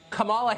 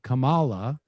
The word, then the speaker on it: Kamala: it's kind of so i'm disrespecting her by mispronouncing her name unintentionally so it begins you're not allowed to criticize kamala harris or kamala harris or whatever no because